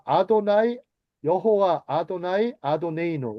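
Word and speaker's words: אֲדֹנָי: 자, 아도나이. 여호와. 아도나이. 아도네이노. 원래는 야회라고 발음을 안 합니다. 유대인들은 하나님의 이름을 어 망령대히 부르면 안 된다고 해서 아도나이 주님이에요.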